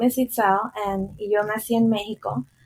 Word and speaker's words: Itzel: Sí, mi nombre se pronuncia Itzel.